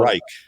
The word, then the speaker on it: Reich: I'll read the list with a little help on the pronunciation here coming up. 10, Juan Castillo. It's Reich. 9 is Dale Haupt. 8, Deuce Staley. 7, Frank Reich.